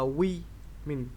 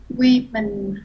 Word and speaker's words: women: Nhưng mà hai cái này đều là o hết, nhưng mà ở dưới á, để phân biệt cho rõ thì mình đọc là women ha. Women.